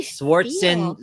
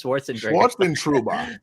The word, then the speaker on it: Schwarzenegger: that how do you schwartzen sorry i said that schwartzen schwarzenegger this is schwarzenegger yes that's the name right you cannot say it